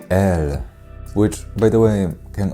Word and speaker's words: êl: In Sindarin, you can say “el”, which, by the way, can also be written with a circumflex, like this “êl”, but the pronunciation of this word can easily be mistaken with the word “ell”, which is one of